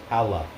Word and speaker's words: jala: I know it's spelled jala, but it's pronounced hala with an H.